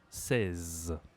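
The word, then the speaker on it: seize: En français e i, ça se dit e comme un e accent aigu ou accent grave. Si tu n'as pas vu cette vidéo, va voir. J'ai fait une vidéo sur les accents. Ici, c'est la même prononciation et 16.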